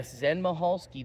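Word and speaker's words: Michalski: that um but yeah Zen mahalski the C is silent but Zen mahalski apparently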